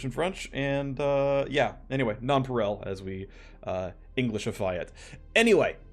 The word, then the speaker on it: nonpareil: I looked up how to pronounce this one. In English, it is Nonpareil.